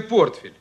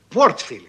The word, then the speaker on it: портфель: их дома наверное целый портфель портфель Да прекрасно прекрасно Поздравляю вас Ну вот и я тебя поздравляю А ещё интеллигентный человек а надо говорить портфель портфель Неужели это непонятно вот берите